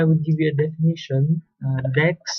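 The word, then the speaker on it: deque: give you a definition Dex or double ended cues pronounced like deck are sequences containers with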